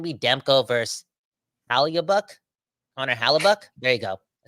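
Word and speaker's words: Halák: game it's gonna be Demco vers haluk honor haluk there you go I said it right there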